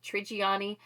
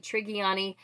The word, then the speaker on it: Trigiani: I've been saying her last name wrong, apparently, because the audiobook narrator pronounced it Trigiani. I think I said Trigiani.